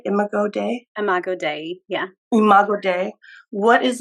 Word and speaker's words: Imago Dei: Imago Dei, yeah.